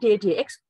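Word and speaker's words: dy/dx: Ini bacanya dy dx, pernya tidak usah dibaca, gitu.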